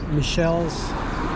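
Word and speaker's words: Michel's: down that way uh Michelle's it's spelled kind of like Michael's but it's Michelle's and also the Elk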